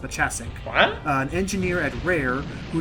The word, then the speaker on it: Machacek: So his name was inspired by Paul Machacek, I think is how it's pronounced, Machacek.